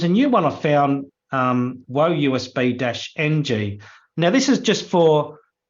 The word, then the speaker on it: WoeUSB-ng: Yeah, WoeUSB-ng.